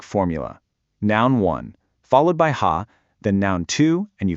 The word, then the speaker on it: は: That little particle wa, and this is key, it's pronounced wa when it's used like this, it points to the topic of the sentence.